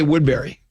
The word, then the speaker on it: Woodbury: I live in Woodbury. We say Wood Berry.